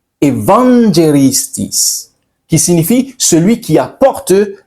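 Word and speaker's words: εὐαγγελιστής: Le mot évangéliste trouve ses racines dans le grec ancien qui prononcé Evangelistis qui signifie celui qui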